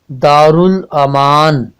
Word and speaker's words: دارالامان: بنتی ہے۔ اب ہمارا اگلا لفظ جو ہے دارالامان، دال پر زبر، الف پر جزم، رے پر پیش، لام پر جزم، الف پر زبر، میم پر زبر اور الف پر جزم لگانے سے یہ تلفظ دارالامان بنتا ہے۔ اب ہمارا تیسرا لفظ